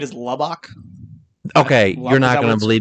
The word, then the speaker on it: Lubbock: Lubbock.